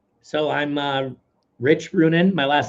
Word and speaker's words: Ruohonen: Well, how can people find you or stay follow you or stay in touch or So I'm uh Rich Runan. My last name is spelled ru o h o n ne at on Facebook I'm rich Brunin pretty easy on uh Instagram.